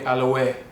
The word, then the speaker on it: Aloe: when i'm in europe the europeans call me aloy and they uh i guess they're saying it right for their accent and for the way they pronounce words so it doesn't bother